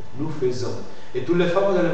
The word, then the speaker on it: faisons: du verbe faire FA fais que tu dois prononcer quand tu fais le verbe faire tu dis nous faisons nous faisons et tous les femes dans parfait je faisais